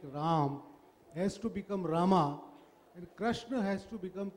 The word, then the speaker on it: Rama: translated from Sanskrit and in Sanskrit you pronounce the final are generally and even in toasted us for metrical for metrical purposes we say Rama IV Rama bundle nama Rama so that's just a matter of pronunciation but I don't I don't do that in the book I say ROM not Miriam bus yes